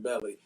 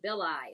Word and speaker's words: Beli: Oh, I kept saying Belly. I was too, but then I was going through some of the clips to see how to pronounce it, and it seemed like he said Beli in some rap he was saying.